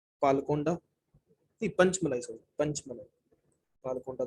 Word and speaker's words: पालकोंडा: पी का मतलब है पालकोंडा hills, spelling PAL KONDA, पालकोंडा, पालकोंडा hills.